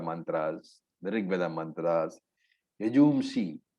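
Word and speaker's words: यजूंषि: Yajumshi is Yajur Veda. Somewhere you will find the pronunciation as Yajugumshi. Anyway, it's the same thing.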